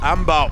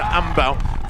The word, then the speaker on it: Ambau: But Ambau now, and apparently that's the correct way to pronounce it, Lekina Ambau, 46:20 at 18k, and 3:05 for her.